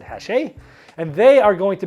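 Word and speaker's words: Hachette: to be at hache it's spelled hatchet with two t's and the e but it's a french company it's it's i believe it said hashe and they are going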